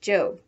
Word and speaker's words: Job: hui before going off to her job which in the bible is pronounced job remember that the one